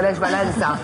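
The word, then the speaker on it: Lech Wałęsa: Vous prononcez bien d'ailleurs Lech Walesa.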